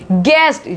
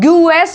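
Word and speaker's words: guest: गेस्ट, ठीक है, गूएस नहीं बोलेंगे इसको, गूएस नहीं बोल रहे हैं, गेस्ट बोल रहे हैं।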